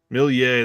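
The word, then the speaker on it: Méliès: how do you say it properly will uh milia that's it yeah I'm terrible with French I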